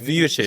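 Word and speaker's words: Vujačić: pronunciation. Is it It's Vujicic.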